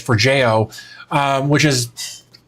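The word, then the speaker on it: Forgejo: I think it's for Jojo is actually how it's pronounced based on what I ascertained from my research for Jojo.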